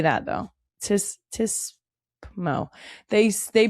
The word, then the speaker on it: TSPMO: Tismo. They pronounce it.